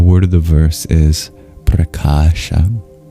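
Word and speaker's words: prakāśa: The word of the verse is preasha. P R A K A A S H A preasha.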